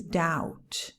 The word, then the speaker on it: doubt: on this list is doubt d-o-u-b-t doubt you don't pronounce the b the b is silent i have some doubts